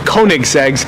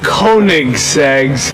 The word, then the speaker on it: Koenigsegg: name but we got the codes like swedish koenigseggs konig sags it is pronounced koenigsegg you're welcome good night i would